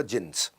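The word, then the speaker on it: Djinns: उसमें बेसमेंट में क्लब होता था, जिन्स, डी जिन्स लिखता था, डी साइलेंट होता था, जिन्स।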